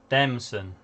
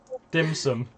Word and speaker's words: Demson: How do you say his name, Morgan? Demson. Okay. Wow. I was Alright. gonna say it's not a Chinese meal. Dim sum. It's not dim sum.